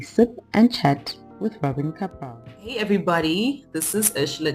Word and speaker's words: Kapral: It is a foreign name. It's from Czech Republic, but it's, yeah, you did it well. Kapral.